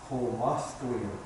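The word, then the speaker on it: xʷməθkʷəy̓əm: Well, down there, that community is called Musqueam, but the actual pronunciation for Musqueam is Homothqueam.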